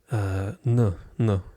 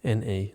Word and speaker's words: na: In this particular case, no, N-A, no. So yeah, it's when you see this, it's pronounced more like n rather than na or no.